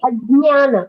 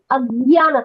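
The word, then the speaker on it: अज्ञान: It is not Ajnana. That is certainly a wrong pronunciation. It is Ajnana. So the pronunciation has to be Ajnana. Though in English we are limited by the letters that we have, but it is J and Nya. When these two letters get together, J and Nya, you get Nya. So the pronunciation is Ajnana.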